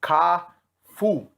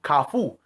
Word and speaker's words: kafou: So just give me a little correct pronunciation of how you would basically say it. KAFOU. So KAFOU. So that's the correct way of pronouncing it in Haitian Creole.